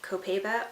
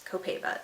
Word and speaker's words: Copaiba: So this oil that I picked up is Copaiba or Copaiba, I think some people pronounce it. I think it's Copaiba, that's what I'm gonna call it.